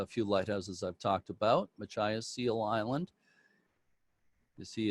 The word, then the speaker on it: Machias: you're muted i thought i heard somebody say machias it is pronounced machias by the way but uh anyway make sure